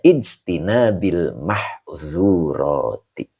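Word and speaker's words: اجتناب المحظورات: Almahzurati mudhaof ilaih yang dijirkan dengan kasrah karena jamak muannas salim. Begitu. Ya. Jadi dibacanya ijtinabil mahzurati, menjauhi dari yang dilarang atau yang dicegah.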